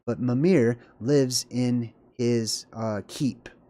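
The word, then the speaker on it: Mímir: Norse gods named um mamir okay there's different ways to pronounce that name but mamir lives in his uh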